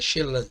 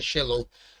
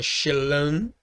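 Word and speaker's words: שְׁלָם: temos aqui ó shelan Ah desculpa aqui é shelan tá não é shelon porque o cats aqui tem o mesmo som do CET ruf acabei aqui me confundindo tá então é shelan paz e aqui é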